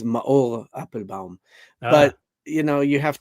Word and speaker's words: Maor Appelbaum: It's going to be very difficult cuz the real pronunciation is ma apple bomb.